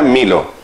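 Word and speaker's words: μήλο: Se pronuncia milo, la manzana.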